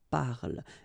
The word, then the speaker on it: parle: So elle parle, parle.